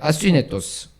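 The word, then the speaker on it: ἀσύνετος: 아스위네토스.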